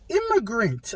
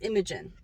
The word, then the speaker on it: Imogen: this new campaign was immigrant uh by laura bailey they pronounced that as imogen imogen sorry i don't say immigrant sorry about that um imogen imogen i'm so